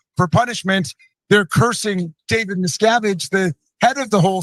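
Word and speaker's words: Miscavige: it for someone to properly pronounce the last name miscavage they always say misovich they always say miskovich this guy's watched enough Scientology content to know it's miscavage he's watched enough Scientology content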